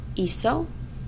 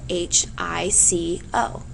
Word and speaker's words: hizo: If we spelled it like that, it would be pronounced hico, according to our pronunciation rules. Okay, remember that I's and E's soften, C's and G's. So a C followed by an A, O, or U is pronounced as k, and we do not want hico with the verb hacer.